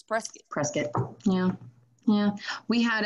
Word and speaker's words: Prescott: Like, why do we call spelled Prescott?